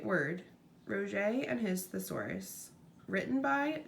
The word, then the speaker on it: Roget: Peter Mark Roget, pronounced Roget, born 1779 and died in 1869.